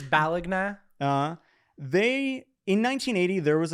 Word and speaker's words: Bologna: is like do i do i pronounce it like bologna is is that is that how the italians do it it's balagna they in 1980 there